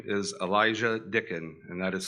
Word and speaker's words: Elisjsha: His name is Elisjsha Dicken, and that is spelled Elisjsha, and he resides in Seymour, Indiana.